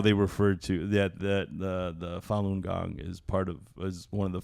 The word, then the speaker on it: Falun Gong: How do you pronounce it? Falun Gong. Falun Gong.